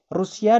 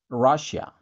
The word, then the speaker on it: Russia: Rusia dalam bahasa Inggris diucapkan Russia. Russia. Coba kamu perhatikan ya. Bacanya Russia. Russia. Bukan Rusia. Bukan Rusia. Tapi Russia.